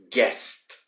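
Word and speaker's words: guessed: use this in a past tense we would say guest guest now there is a bit of a problem this does sound like the word guess where someone you know visits you um you know i mean when yeah when someone visit you or someone comes to your house for a party or for a dinner say oh here is my guest so guest when you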